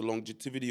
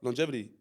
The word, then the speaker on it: longevity: i t y what longevity okay that's how you say it why did you say